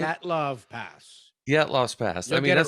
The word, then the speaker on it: Dyatlov Pass: I still think we were talking about, I don't know if you know much about the Dilatov's Pass. Is that how you pronounce it? Dyatlov Pass.